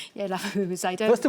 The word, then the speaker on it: Labubu: Yeah, Laboo. I don't First of all, did I say it correctly? Laboo.